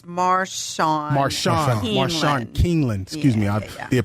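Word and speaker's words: Marshawn Kneeland: You know, recently we had, speaking of the Cowboys, as Marcel Nealon. I don't want to mispronounce his name. It's Marshawn Keeneland.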